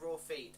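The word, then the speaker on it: Raffe: when she SP rap Rafi it's like Rafi in the book it's meant to sound like raw feet and I don't know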